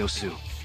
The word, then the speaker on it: osu: I'm I'm playing Musu right now. Jonas couldn't help but chuckle at your pronunciation. You mean osu, right? You keep saying musu. It's osu. Okay.